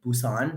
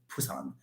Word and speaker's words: Busan: korean they wouldn't say busan they say busan it's actually a p sound so interesting yeah technically